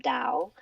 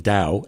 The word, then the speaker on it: Tao: bring the principles of Tao into your everyday life, everyday living. I guess I have to start saying Tao instead of Tao. Yes, it is pronounced like a D.